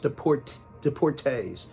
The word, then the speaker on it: Deportees: I think it's pronounced Deportees, even though it's spelled EES at the end.